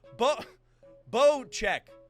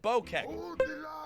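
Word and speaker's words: Bocek: curve around it okay the new bokek pronounced bow check oh i said bokeh a compound bow is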